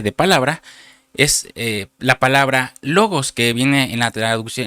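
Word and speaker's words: λόγος: la concordancia Strong 3056, que se pronuncia logos.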